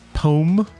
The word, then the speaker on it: poem: If you know anyone from the Appalachian Mountains, everyone pronounces poem as pome.